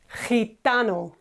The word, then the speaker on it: gitano: A gypsy in Spanish is gitano. Gitano. G followed by I in Spanish is he.